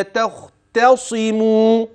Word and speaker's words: تختصم: لا تخ الانتقال من التاء المرققة إلى الخاء المفخمة. لا تخت لا تختصم، التاء ترقق الخاء تفخم.